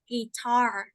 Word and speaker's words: guitar: to play guitar okay remember about its pronunciation right guitar difficult for us to remember because we all say that right so in English it's guitar guitar after his work we